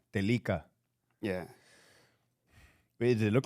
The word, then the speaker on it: Telica: Telica. Telica.